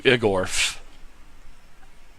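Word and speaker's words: Yggorf: You will speak to Igorf. And Igorf is spelled Y-G-G-O-R-F.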